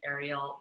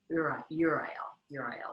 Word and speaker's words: Uriel: So when I was 17, I pronounced it Ariel, but if you really get into it, it's Uriel. So just to give the right pronunciation of that one.